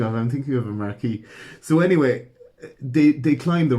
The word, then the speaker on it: Marquis: But I do you not pronounce this Marcus? Marquis? No. No? So he's the Mark. The Marquis. The Marquis. Are you serious? Yes, it's a Marquis.